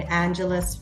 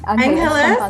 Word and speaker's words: Angeles: Correct me if I'm not pronouncing that right. Is it Angeles City? Angeles, yeah. I feel like that's my English just taking over.